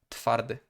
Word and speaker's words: twardy: So probably that's why there is this thing that the voicelessness of the T forces the W to become the softer f sound. So the pronunciation of this word is actually twardy, twardy, twardy. So it just the W is just softened.